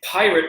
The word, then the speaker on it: Pyrat: It's Pyrat rum. Yes, I know it looks like it's spelled awkwardly, P-Y-R-A-T, Pyrat rum.